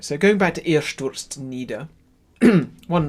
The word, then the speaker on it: stürzt: So going back to Ihr stürzt nieder, one not particularly special quality, but something to note is the pronunciation of the word stürzt, which is Sturz with a TS and then a T.